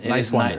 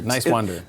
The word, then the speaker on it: Niswander: Talking to Dan Nowman Niswander. But it's Niswander. Just think nice and wander. Niswander.